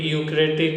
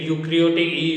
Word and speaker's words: eukaryotic: Prokaryotic, prokaryotic, eukaryotic, eukaryotic. E is silent, okay, and eukaryotic E is silent.